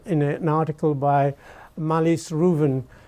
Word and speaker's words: Ruthven: One of our books was mentioned in an article by Malis Reuven. It's written Ruthven, but it's actually pronounced Reuven in the New York Review of Books.